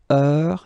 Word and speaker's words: heure: Il est 6 heures. All right, so heure, you write it like that. Remember, H is not pronounced, okay?